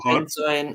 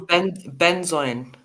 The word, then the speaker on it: benzoin: You know, it sounds. It sounds like you spell it, but I thought there's no way this is how they're spelling it.